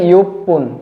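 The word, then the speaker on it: 一分: এক মিনিটের ক্ষেত্রে ইচিপুন না হয়ে যাবে ইপপুন ইপুন ছোট স দিয়ে যুক্ত হয়ে গেছে নিষেত্রে ফন হবে সানের ক্ষেত্রে হবে সান পুন তিন মিনিট ইন পুন না হয়ে যাবে ইপন ইপন যুক্ত হয়ে যাবে তারপরে গোফন রুকু না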